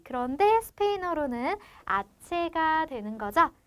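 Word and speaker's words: hache: 그런데 H는 스페인어에서 알파벳 자체가 묵음입니다. 그래서 없다고 생각하고 여기만 아체라고 발음을 해주시면 되는데요.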